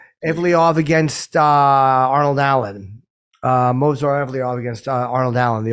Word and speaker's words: Movsar: The first, how do you pronounce his first name? Movsar. Movsar.